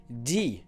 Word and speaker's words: DyE: So Fantasy is a song by DyE. I pronounce it D because he's a French artist and I live in France, and that's how they would pronounce that.